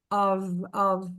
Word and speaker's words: of: Of, aqui fica um som de V.